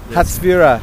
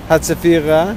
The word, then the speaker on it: Hatzfira: Hatzfira. Yeah. How do you spell that in English? H-A-T? H-A-T-Z, Yeah. Leslie, Hatzfira. Yeah. Hatzafira.